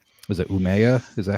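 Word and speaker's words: Umeå: Um Mishuga is my favorite metal band from uh was it Umea? Is that how you say it? Umea. Uma.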